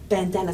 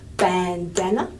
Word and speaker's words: bandana: lip lipstick maybe bandana bandana is a better example than lipstick bandana has two strong syllables okay yeah but in